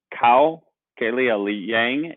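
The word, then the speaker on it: Kao Kalia Yang: can be um uh cow kellya li yang is how you say her name um they moved from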